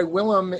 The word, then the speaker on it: Willem: William defo that's right he started to go by Willam in college and which is uh the Dutch pronunciation his name I believe and as